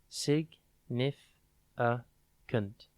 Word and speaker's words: significant: today's word is significant it is pronounced Sig aant and it is spelled s i g n i f i c a n t think Sig then nith then the letter I and then can't c a n t without